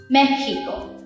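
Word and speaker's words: México: 、当我哋讲墨西哥 Mexico 嘅时候，我哋发一个 h 嘅 sound Mexico。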